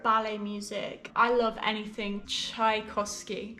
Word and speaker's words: Tchaikovsky: have any favorite ballet music i love anything tchaikovsky tchaikovsky i think it's that but it's russian so